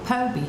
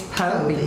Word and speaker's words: Phobee: So she spells it Phobee, and called me Phobee. And I just tell people the H is silent, because the PH does not sound an F. Yeah, because you get Phobee, you get Phoebe.